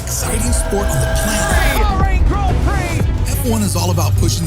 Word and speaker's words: Grand Prix: It was called the French Grand Prix. These words should sound like /ɡrænd prɪks/ But since it’s a French term, It’s pronounced as /grahn pri:/ It literally means the Great Prize.